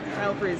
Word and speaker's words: Stelfreeze: Stelfreeze. See this? See this person? That's how you say his name.